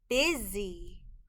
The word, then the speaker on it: busy: a short i sound the s in this word is making a z sound z the y in this word is a part of the sound spelling patterns y at the end of a two-syllable word makes an e sound the word is busy